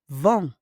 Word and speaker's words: vend: Le boucher vend. On prononce pas le D, hein?